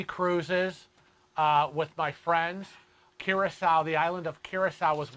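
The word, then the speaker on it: Curaçao: would like to know how to pronounce carousel curacao it's pronounced curacao ah ps love curacao it is like it's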